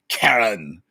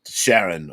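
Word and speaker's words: Charon: negotiating with the conductor karen or sharon or however you wish to pronounce it um i i pronounce it as karen but the boatman i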